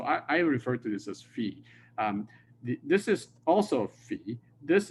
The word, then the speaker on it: phi: This is the letter phi, okay, in Greek. Sometimes some people call this phi.